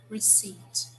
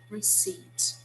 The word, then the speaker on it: receipt: again ladies this word we do not pronounce the p it's silent so we say receipt receipt okay so after you